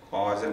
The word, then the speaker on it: causal: Some people who don't know how to pronounce this, casual body. Casual body. English is also performed. Not casual body. Causal body.